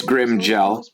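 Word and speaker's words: Grimmjow: It's Grimjow. It's pronounced Okay, Grimjow.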